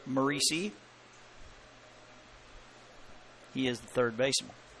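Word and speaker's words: Moreci: pitch walk as Jake Maurice to the plate m o r e c i pronounced macei he is the third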